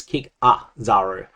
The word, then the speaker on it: Kikazaru: that second vowel in this is an A. Intuitively to me it feels like it would be an I, but it is not. It is Kikazaru, so keep that one